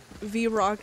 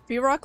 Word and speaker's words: Vrock: too far too far vrock like Brock so I say it like Brock that's kind of weird there's no B but English is weird